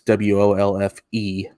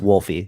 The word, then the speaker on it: Wolfe: what's wolf and it's w-o-l-f-e and it's not pronounced wolfy it's just yeah it's just wolf it's not wolfy come